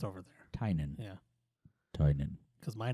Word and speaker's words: Tynion: It's not Tynion. It's Tynan. I guess it's Irish or something.